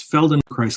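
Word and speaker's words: Feldenkrais: absolutely I'm I'm a big fan it's it's Feld and chist I'll spell it for everybody because it's a bit of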